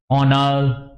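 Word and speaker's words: honour: इज not pronounced student ये आपका जो एच है ये प्रोनाउंस नहीं हो रहा आवर ऑनर ऑनेस्ट एयर तो यहां पे ये एच की आवाज नहीं आ रही यह बोलने में प्रोनाउंस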